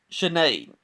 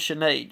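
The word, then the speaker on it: Sinéad: what I saw but I want to say her name is chenade chenade cavana her nickname is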